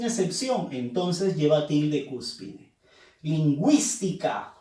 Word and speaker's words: lingüística: Lingüística. Fuerza de voz en wis.